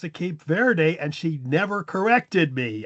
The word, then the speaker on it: Cape Verde: Go until Yeah, it's it turns out it's Cape Verde.